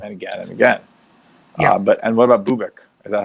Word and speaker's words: Bubic: And what about Bubic? Is that how you say it? Bubic?